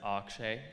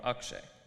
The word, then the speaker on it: Akshay: audience would be wondering how you should pronounce my name whether you should pronounce it akshay or akshay and the answer is that there is no one answer i'm learning to hear both to welcome both and to be grateful for both i belong where i